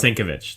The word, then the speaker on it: Sienkiewicz: Yes, I guess that I got, we're able to pronounce. How do you say it again? Bill Sienkiewicz. Oh, Bill Sienkiewicz. Bill Sienkiewicz. Sienkiewicz. Thank you. Sienkiewicz.